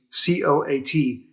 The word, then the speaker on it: coat: and it can even be silent like in the word coat there's an a in there imagine coming from another country and trying to learn english and you see c-o-a-t and you're told it's pronounced coat just throw the a out completely that must be so